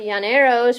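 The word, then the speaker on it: llaneros: Two L's together make the Y sound in Spanish. The Yaneros, which are Venezuelan cowboys,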